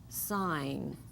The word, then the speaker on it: sign: sneak in on us G followed by an N says so that will always be silent some examples like Nat it's a nasty little gnat or final position sign we don't hear the G just the n continuing with lesson 24